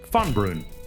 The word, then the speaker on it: FUNBRUN: The name is pronounced FUNBRUN. Fun, literally fun. Brun lands in Old Norse, and built into that